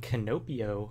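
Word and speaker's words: Kinopio: kong koopa wario mario and canopio i believe is how you say it that's actually toad in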